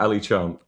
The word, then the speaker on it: Ali Chant: pronounce? Yeah, Ali Chant.